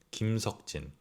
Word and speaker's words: 김석진: You could be pronouncing it right, but this is the real pronunciation. RM, 김남준. 김남준. Jin, 김석진.